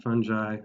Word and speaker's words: fungi: different kinds of fungi fungi what is it the hard G fungi um and you